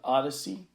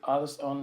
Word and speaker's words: Odysee: Library and their twin service, which is called Odyssey, which is spelled ODYSEE.